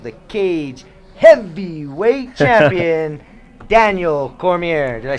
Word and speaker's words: Cormier: crowned King of the Cage heavyweight champion, Daniel Cormier.